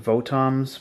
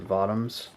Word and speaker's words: Votoms: But yeah, this is from the Votms series, and I used to pronounce it Votams, but I'm for the rest of the video, I'm going to pronounce it Votms.